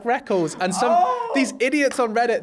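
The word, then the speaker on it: Rekkles: me going, I like Reckles. And these idiots on Reddit, they're like, oh, actually, I got super worried. He said Reckles, and I'm like, dude, it's spelt like that.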